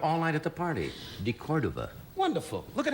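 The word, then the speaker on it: de Cordova: You kept mispronouncing it all night at the party. DeCordova.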